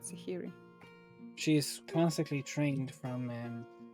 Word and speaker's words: Sahiri: an h um s-a-h-i-r-i it's like sahara but sahiry she is constantly trained